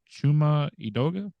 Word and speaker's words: Chuma Edoga: Friday He's listed as questionable his backup uh chuma edoga that's how you pronounce the name he's also limited uh so